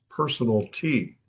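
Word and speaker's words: personalty: Another word besides chattel is personal T, and that's how it's pronounced, personal T.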